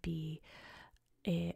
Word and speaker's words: Beja: reached its name and they're both called Bea both pronounced exactly the same so we'll go over